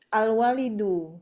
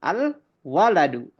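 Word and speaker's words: الولد: Alwalidu. Ah bukan. Al waladu.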